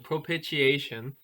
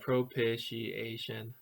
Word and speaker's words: propitiation: fancy word here propitiation propitiation right that big fancy word how many so was that propitiation five five syllables um it is a